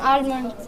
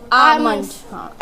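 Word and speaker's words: almond: बताइए पहले फर्स्टम बादाम आलमंड आमंड एल को साइलेंट करना था ना आमन यस नाउ टेल मी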